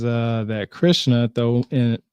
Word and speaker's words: Krishna: it says uh that Krishna though in in most of peninsula of India the name is in fact pronounced krushna k r u h